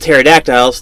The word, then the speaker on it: pterodactyls: can't hear it because as with pterodactyls the P is silent okay that's a stress